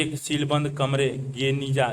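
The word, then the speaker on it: Geniza: 1896 के फुस्तात पुराना काहिरा में बने एजरा के यहूदी प्रार्थना भवन के एक सीलबंद कमरे गेनिजा, जिसका उच्चारण गनीजा के रूप में किया जाता है, में मध्य काल के यहूदी दस्तावेजों का एक विशाल संग्रह मिला।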